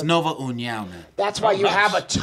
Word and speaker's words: Nova União: Mark Henry's own Marlon Moraes versus Brazil's own Nova Unao. Did I say it right? It's Nova União, man.